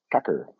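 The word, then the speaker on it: Tucker: It's Kucker, pronounced Kucker. Oh, okay. Thank you, Adam. Fish face. That's how Ukrainians pronounce it, I believe.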